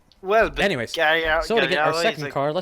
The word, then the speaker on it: Gallardo: be pronounced Gallardo.